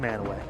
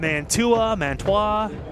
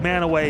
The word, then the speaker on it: Mantua: down uh down with the crowd it is pronounced manway I know there was a story on Fox8